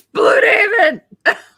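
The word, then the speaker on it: Blüdhaven: well first you should learn how to pronounce the name properly it's blue DAV actually the A's probably different anyway if you want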